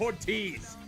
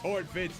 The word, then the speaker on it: Horvitz: I said Ortiz. It's Horvitz, actually.